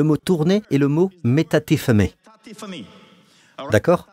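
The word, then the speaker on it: μετατίθημι: Le mot tourner est le mot metatithemi d'accord. Metatithemi, c'est comme ça que vous le prononcez metatithemi.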